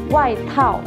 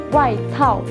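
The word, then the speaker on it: 外套: Jadi bacanya qunzi. Nah, kosakata berikutnya yaitu jaket. Jaket. Jaket. Dalam bahasa Mandarin yaitu waitao. Waitao. Waitao.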